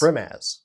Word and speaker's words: Brimaz: I don't that's okay I think it's brim as Bri brim as brimaz we're getting thumbs up so that's Canon now thank you brimz yes